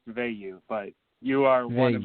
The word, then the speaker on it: Veilleux: and that's okay uh it's pronounced V but you are one